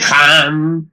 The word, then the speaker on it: Ham: La H suena siempre como J.